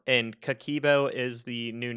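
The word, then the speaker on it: Kakeibo: flair finance could the cakibo and kikibo is the new name i know we were trying to say it yesterday and i think i pronounced it wrong so it's k-a-k-e-i-b-o um that's like the new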